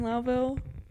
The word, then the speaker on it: Lowville: toown yes there's M it's spelled like Lowville okay but it's laville is there highville up